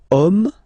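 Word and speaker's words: homme: we've got the word om man okay but then it start with Ash as in French Ash is not pronounced so the first sound that we hear is O Okay and then it will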